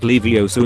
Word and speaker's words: Leviosa: stop it Ron star Ronald where lie it's pronounced Leviosa gorillas are Alivio Sarah who were a llama